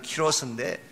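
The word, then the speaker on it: Κῦρος: 원래 이 사이러스라는 이름은 본래 이름은 키로스입니다. 헬라식으로 표현을 하면 키로스인데 성경에서는 고레스라고 그렇게 표기를 했고 영어식 발음으로 사이러스 2세라고 말합니다.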